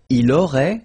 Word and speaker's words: il aurait: Il aurait, same thing here. Final T is not pronounced.